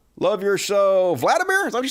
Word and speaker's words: Volodymyr: Zelensky's name is pronounced Volodymyr. Love your show. Vladimir?